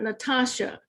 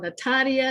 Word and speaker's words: Natasha: a few facts about natasha and if you noticed i placed natasha a lot of people mispronounced my name i'm calling natalia natalia but as long as